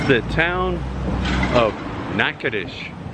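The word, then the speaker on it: Natchitoches: me for a second nakadish that's pronounced nakadish yes indeed yeah well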